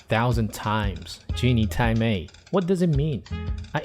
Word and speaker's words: 鸡你太美: Genie Thai May. Genie Thai May. Different from Genie Thai May. Though it's just a small difference resulted from the nasal sound, the first pronunciation has